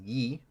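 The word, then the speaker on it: Ї: alphabet I or pernet which is pronounced Yi which is unique to Ukrainian and does not exist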